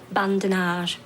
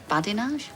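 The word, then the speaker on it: badinage: to you oh sorry i'm trying to do bandanas i think you'll find it's pronounced badinaj could have brian humorous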